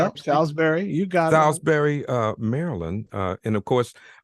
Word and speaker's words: Salisbury: and is that right is that how you pronounce salsbery you got salsbery uh Maryland uh and of